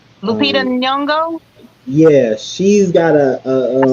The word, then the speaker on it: Lupita: Is it Lapita? I always say her name wrong. Lupita Nyong'o.